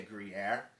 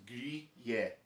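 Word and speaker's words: Gruyère: You can say it like California, like we had some Gruyere. Like Americans say Gruyere. If you want to say it right, it's Gruyere.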